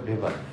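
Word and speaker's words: Weber: আমরা অনেক সময় দেখি ওয়েভার লেখা আসলেটা হবে ভেভার ম্যাক্স ভেভার এটা ডিডব এটা কি এ ডয়েস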